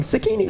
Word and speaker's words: Zacchini: You got it wrong. Zacchini. It's Zacchini.